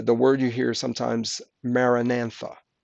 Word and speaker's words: Maranatha: word you hear sometimes Maranatha or actually Maranatha sorry my fault Maranatha I'll spell that for